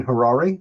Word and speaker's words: Harary: Uh born and raised near Asbury Park, New Jersey, Harrari, which rhymes with Ferrari, which he does not have but may someday.